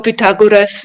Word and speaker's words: Pythagoras: Much before Pythagoras, the knowledge was already in India. Bodhiana, I think, he had this. I don't know how you pronounce Pythagoras. In German, we say Pythagoras.